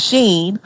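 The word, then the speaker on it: Shein: name wrong and and some people say it's not she and it's Sheen so it's like I be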